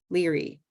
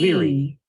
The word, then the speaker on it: leery: And then there's that dictionary where you can look up a word like leery. That was my recent word. Green tea, E. Leery.